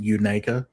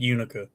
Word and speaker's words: Unaka: It's actually pronounced Unaka. Unaka. Yeah, I thought about that after I said it. It's Unaka? Unaka, yeah. I've always called it Unica. Yeah, it's Unaka.